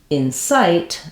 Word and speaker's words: incite: is shorter Insight in inight the verb we have second syllable stress site is longer and in is shorter in this verb version so other than that